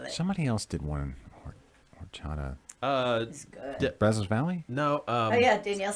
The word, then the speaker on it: horchata: english lessons too because the h is silent in spanish what's what's in horchata uh like cinnamon and